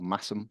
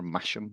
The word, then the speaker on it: Masham: just behind Mass place called massam or masham or depending on how you want to pronounce it um so I take